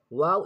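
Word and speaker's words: واو: Wow is pronounced by rounding the lips as a mud letter. Mud letter means lengthening letter. It comes from the empty mouth space. Wow. Try to make round your lips.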